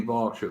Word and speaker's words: Berkshire: It's like, yeah, but it's spelt Berkshire. And it's like, yeah, but it's pronounced Berkshire.